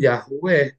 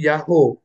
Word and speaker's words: YHWH: Jadi kalau ada tulisan YH BH ya, maka bacanya bukan Yahwe. Enggak mungkin jadi Yahwe akan jadi Yaho. Karena huruf H yang terakhir adalah perpanjangan dari O yang sebelumnya.